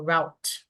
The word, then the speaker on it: route: right so this one can be pronounced as root or route both are mine okay get it so